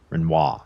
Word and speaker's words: Renoir: Renoir. That's right. You don't pronounce the arm.